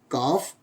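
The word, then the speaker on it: cough: जी H after you अगर यू है और यू प्लस जी एच अर्थात यू के बाद जी एच आता है तो जैसे एल ए यू जी एच तो जी यू दे रखा है यू के बाद कौन लेटर है जी एच तो उसका प्रशन क्या हो जाएगा फ जैसे लाफ काफ and Rufus next ji H also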